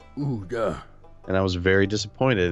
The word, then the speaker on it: Ouya: I remember the day that they released that soundbite of how you actually pronounce that word. Ouya.